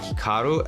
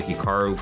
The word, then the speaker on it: Hikaru: to pronounce Hikaru nak now even myself when I pronounce my name it's definitely more Americanized versus Japanese certainly if I was pronouncing it correctly it would be more like Hikaru as opposed to Hikaru but I've spent so much of my life here in America that that's just how I pronounce in everyone does the same thing is Hikaru